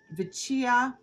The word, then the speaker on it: Vecchia: Vecchia, Italian.